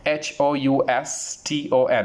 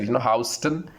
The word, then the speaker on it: Houston: USA, which is called HOUSTON. How do you pronounce this word? How do you pronounce? We said, Houston. Incorrect. The correct pronunciation for this word will be Houston. The right pronunciation is Houston.